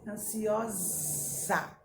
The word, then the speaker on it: ansiosa: Ó, Está no meio de duas vogais também, mas a pronúncia é diferente. Ansiosa, ansiosa. É o sonzinho de quê? Da abelha.